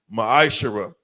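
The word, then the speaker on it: מעשר: The book of numbers, chapter 18 verse 21, book of Malachi 3:es 8-10 means 10th in the Hebrew is pronounced masher.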